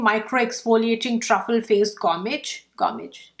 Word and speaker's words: gommage: truffle therapy polishing micro exfoliating truffle face gommage gommage pronounced like that okay let me give you a